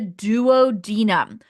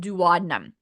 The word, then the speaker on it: duodenum: The first part when we go from stomach to the very initial part is called the duodenum. You'll also hear it pronounced dadnum.